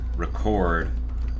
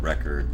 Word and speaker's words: record: Or like, you're going to record the world record run. It's like if it's a verb, the second syllable gets the emphasis, but if it's a noun, the first syllable does.